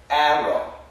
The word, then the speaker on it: arrow: I was really surprised basically this sounds like air o air o Arrow Arrow it has a very a sound this sounds like Arrow Arrow which is a short a and short a we write it like